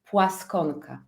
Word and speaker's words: Plaskonka: well to be honest so I'm polish and in our language double n is pronounced so if you want to be uh fully aligned my name in the Polish language is so you can hear this double n and my second name should be pronounced pluska so your pluska